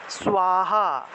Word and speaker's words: স্বাহা: আমরা বাংলায় বললে সাহা বলে থাকি না, সাহা, এটা আসলে সাহা উচ্চারণ হবে না, কারণ দন্তস্বয়ের নিচে একটা বফলা আছে, তাহলে উচ্চারণটা হবে সুয়, দন্তস্বয়ের নিচে বফলা থাকে সুয়, তারপরে আকার, তাহলে উচ্চারণটা হবে স্বাহা, উচ্চারণটা হবে স্বাহা, কারণ দন্তস্বয়ের নিচে বফলা আছে, বফলা থাকলে সুয় উচ্চারণটা আসলো, ঠিক আছে।